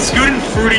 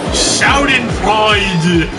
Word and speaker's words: Schadenfreude: I rarely ever get a sense of Schadenfreude from watching those shows now. Well, Matt, got it. My friend's sweet. Fuck you. You can scoot and fruity your fucking ass off a cliff if you